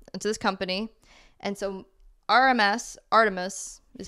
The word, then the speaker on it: ARTMS: It says Stan Artemis, which is Artemis. You guessed it right before. So it's spelled ARTMS, and that's because 4 members of Luna have signed.